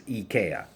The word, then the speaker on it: IKEA: The way that you say it in Swedish is IKEA.